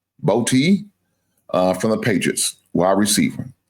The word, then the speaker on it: Boutte: So Keyshawn, I think his name is pronounced Boutte from the Patriots, wide receiver.